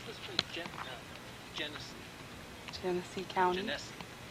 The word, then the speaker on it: Genesee: Genesee. Genesee County. Genesee. How do you pronounce the name of the county? Genesee. Right, Genesee. It's hard to pronounce.